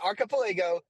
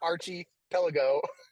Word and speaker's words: archipelago: they're getting here yeah archipelago not Archie pelago no you mean the